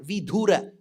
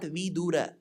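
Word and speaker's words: विधुर: wife is dead then that widower is called vidhura now remember it is not vidura we small the bidura means Vice there was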